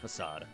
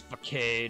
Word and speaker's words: Facade: Yeah, facade. I figured. Yeah, I've always read it as facade, and then I heard someone pronounce it. I was like, oh, I don't know how to read.